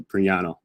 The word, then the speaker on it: Prignano: glad i didn't actually in italian you know because the g in the end it's pronounced like lasagna so priyano ah yes i got